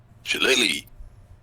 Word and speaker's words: shillelagh: Shillelagh.